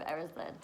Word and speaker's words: Erised: 12, The Mirror of Erised, which last time I was kind of like, oh, how do I pronounce that? So I watched the movie again and we have now got The Mirror of Erised.